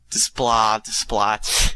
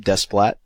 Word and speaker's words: Desplat: So she's saying it's Desplat. I think the S is silence as well, yeah.